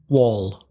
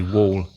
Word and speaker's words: wall: w a double L sorry how do you pronounce w a double L wall see a lot of students don't understand my pronunciation of that word I say wall wall say it again wall yeah your vowel